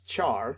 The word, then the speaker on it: char: Or some people pronounce it as char, C-H-A-R, and it is actually a 16-bit unsigned integer.